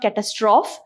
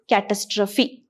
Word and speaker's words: catastrophe: It is not catastrophe. It is catastrophe. Something that is pronounced as apostrophe.